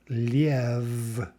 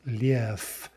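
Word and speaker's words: лев: And so even though we write this word liev, that's not the way it's pronounced. It's pronounced lief, lief.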